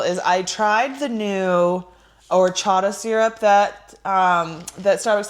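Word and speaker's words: horchata: So, and then another boring thing I want to do just before we get into Mission Impossible is I tried the new orchatada syrup that um that Starbucks has, let me say it right, orchata syrup that Starbucks has.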